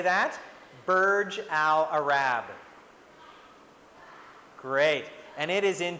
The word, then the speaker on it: Burj Al Arab: And in this name, it's pronounced Burj Al Arab. Can you say that? Burj Al Arab.